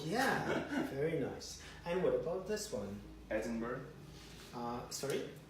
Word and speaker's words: Edinburgh: subscribe porcelain in January temperature in London and Edinburgh was was just above five degrees five degrees